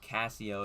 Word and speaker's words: Cassio: And by Cassio, I mean Queso, but Cassio is the correct pronunciation.